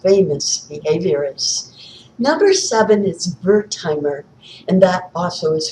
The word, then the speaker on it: Wertheimer: Number seven is Wertheimer, and that also is spelled with a W, by the way, who formed the Gestalt School of Psychology.